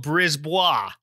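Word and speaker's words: Brisebois: I looked it up because I could have gone either way, but it's Danielle Brisbois.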